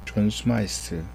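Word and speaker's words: Smyth: 최초의 지도자는요 존 스마일스 여기 지금 y 발음을 해요 그래서 존스마이스 원래 th는 스 발음을 우리가 하는데요 어쨌든 존스 마이스가 최초의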